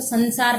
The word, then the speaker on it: संसार: नहीं तो आप ऐसा लिख देंगे कि भाई उच्चारण में तो संसार न आ रहा है तो सन प्लस सार लिखेंगे, पर ऐसा नहीं होता है।